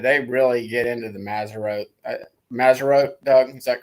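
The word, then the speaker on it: Mazzaroth: And I got a Facebook friend or two that they really get into the Maserote, Doug, is that correct pronunciation?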